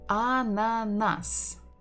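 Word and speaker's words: ананас: Another word that we learned is ananas. Ananas. We stress the final syllable.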